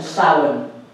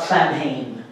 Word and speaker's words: Samhain: tradition are beltane and salmon you pronounce that sound okay irish scale like if anybody has ever studied it has a whole interesting set of phonetical rules so it's not samhain okay you may know